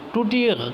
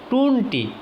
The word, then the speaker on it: ٹونٹی: وہ چراغ ہے، چراغ۔ ٹوٹی، ٹوٹی توڑنے کے جو نا معنی میں آتا ہے، تو ٹوٹی کہنا غلط ہے، لکھنا غلط ہے، ٹوٹی تلفظ کرنا غلط ہے۔ ٹونٹی صحیح ہے۔ کوڑا کرکٹ غلط ہے،